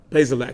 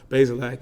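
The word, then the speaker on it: Bazelak: uh wit is um i say his name right pays the lack excuse me i said basically i want to make sure i correct myself basilak is uh more of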